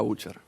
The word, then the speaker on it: Bucher: ¿Cómo se pronuncia tu apellido? ¿Butcher o Butcher? Butcher.